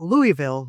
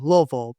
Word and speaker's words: Louisville: investigation sciences from the University of Louisville, not Louisville, Louisville, please got to pronounce that correctly.